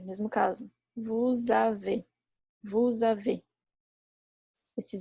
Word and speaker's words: vous avez: Vous avez, mesmo caso. Vous avez. Esse Z é mudo.